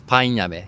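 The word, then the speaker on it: パインアメ: It's painame, so pineapple candy.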